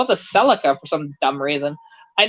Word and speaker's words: Celica: the Toyota Celica where we had the silica SIM card just different pronunciations of it but realistically Celica was the proper pronunciation of it because that's what they actually use in the Japanese advertising and so that's what